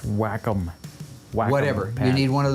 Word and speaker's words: Wacom: pad would you get on that oh it's pronounced wacom whatever you need one of those to work